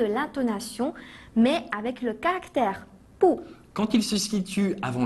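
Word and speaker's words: 不: 随便。Aujourd'hui, dans le chinois en bref, nous allons également nous focaliser sur le changement de l'intonation, mais avec le caractère pou.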